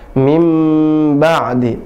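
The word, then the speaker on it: من بعد: Contohnya min ba di, min ba di. Tidak dibaca mim ba'di, tidak bisa. Tidak juga min ba'di, tapi dimasukkan dan berubah langsung, ba langsung berubah jadi mim. Mim ba'di.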